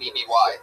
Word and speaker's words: Eby: E-B-Y?